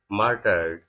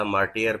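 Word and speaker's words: martyred: ہیں 3 FC personal مارٹرڈ۔ اصل میں بھی اسے کافی عرصہ مارٹیئر پڑھتا رہا ہوں، لیکن اس کا پروننسیشن جو تلفظ ہے وہ ہے مارٹرڈ۔ مارٹرڈ آفٹر ٹیررسٹ ٹارگیٹس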